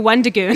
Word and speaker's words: Wendigo: Okay, so the Wendigoon. It rhymes with Schmendigo.